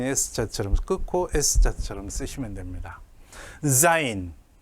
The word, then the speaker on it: zain: 자, 요 zain을 발음하기를 어려워하시는 분들이 많습니다. 어쨌든 우리말로는 지읒으로 음력을 해야 되는데 이게 우리말 지읒바 자인이 아닙니다. 유성음으로 zain이라고 발음을 하셔야 돼요.